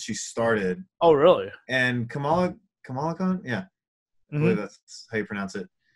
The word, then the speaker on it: Kamala Khan: And Kamala Khan? Yeah. Mm-hmm. I believe that's how you pronounce it. Please don't let me be wrong. There we go. Okay, that is exactly Kamala Khan.